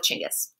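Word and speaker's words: Chinggis: to call himchangas khan in older texts you may see it in english as genghis khan scholars say that this is more close to how it would likely have been pronounced so we're going to go with chingus he's a relatively what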